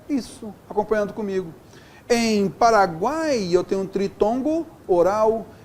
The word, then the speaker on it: Paraguai: Paraguai, veja só, o A é vogal, aqui o U é semivogal e o I é semivogal. Paraguai, está vendo só? Tudo na mesma sílaba. Olha só aqui, ó, Paraguai. O A é o tom mais forte.